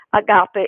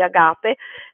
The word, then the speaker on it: agape: progetto che si chiama agape in realtà è un acronimo uso l'accento greco di agape si può pronunciare anche a gap ma adesso a non